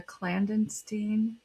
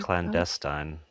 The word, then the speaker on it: clandestine: Its pages drift through time once housed in the collection of Emperor Rudolph II later passing through a clandenstein. Is that how you say that word? Clandestine.